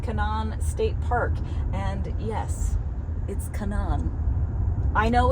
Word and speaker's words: Canaan: And yes, it's Canaan. I know it's spelled Canaan.